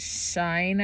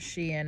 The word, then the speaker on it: SHEIN: to me on Sheen I guess it's was pronounced Sheen some people pronounce it Shine I think or Shen but uh this uh Arabic lady she said Sheen and I'm pretty sure her pronunciation is most correct but anyway so they